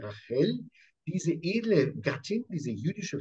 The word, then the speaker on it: Rachel: Und Rachel, auf Hebräisch spricht man sie mit Rachel aus, nicht Rachel, sondern Rachel, diese edle Gattin, diese jüdische Frau an der Seite des Jakob, merkt, ich möchte das nicht mehr.